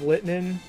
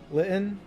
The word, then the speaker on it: Litten: had a papio i did not have litmen or is that how you pronounce it litten well okay okay i i i pronounced it horribly wrong gotta love dyslexia no